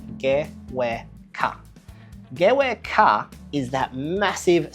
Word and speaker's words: GWK: Gewe Ka, which is how it's said by the Indonesians, or as you might call it, the GWK Cultural Park, located on the Bukit up in Jimbaran.